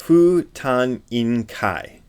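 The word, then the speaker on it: 不貪婬戒: A Japanese person would pronounce this Fu Tan In Kai. Fu Tan In Kai. That's syllable by syllable.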